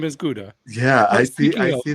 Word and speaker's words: Gouda: I actually my name is supposed to be Goda, but I like it better like Guda and now I present myself like Guda. I was I was telling my own name wrong.